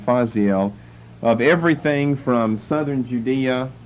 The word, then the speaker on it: Judea: Judea, or the AE together is pronounced as an E.